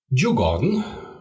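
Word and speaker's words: Djurgården: swed again here uh it's iore which spelled a ik Stockholm jugon which is spelled DJ u r and then the garden and Hami that is hamar similar to the Hammer just an a instead of the e at the end here and B the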